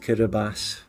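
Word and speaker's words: Kiribati: the country which is spelled kabati is actually pronounced kabas there a country airport in German is fluga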